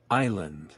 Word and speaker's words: Island: que elas são pronunciadas Silent letters acontece veja alguns exemplos as letras destacadas de vermelho não são pronunciadas não Knife Climb Climbing Island half of daquela aliha que mais chama a minha atenção é a Island que é Ilha que tem um s né e o s não